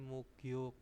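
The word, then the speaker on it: 목욕: di sini adalah muk yuk mukyuk Ya jadi mugyuk bacanya mugyuk Nah itu mandi terus hangguko bahasa Korea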